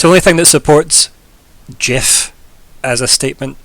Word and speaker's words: GIF: in my opinion and it's still wrong it's GIF if tol can taught me anything everything's a hard G or C oh so okay is